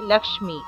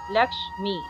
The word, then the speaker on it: লক্ষ্মী: হয় ক যোগ মধ্যস্ তাহলে এটিকে ভাঙলে হবে লাক্স্মি লাক্স্মি তারপর দেখুন নমোস্তুতে এখানে দেখুন লুপ্ত আছে এখানে